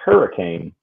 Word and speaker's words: Hurricane: It is spelled hurricane, but it's pronounced hurricane. All right, that you want to get Podunk. There you go. No, no, no, no. Don't you dare call it hurricane. It's called hurricane.